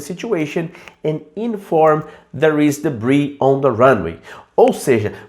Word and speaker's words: debris: A gente pode chamar de debris. E a pronúncia é assim, ó. Tem esse S só para sacanear na sua vida. Tem o S aqui, ó. Muita gente fala debris, tá errado, tá? É debris.